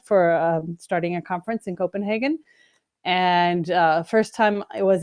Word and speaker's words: Copenhagen: So come to Copenhagen. That's right. And I would say Copenhagen, but evidently it's Copenhagen.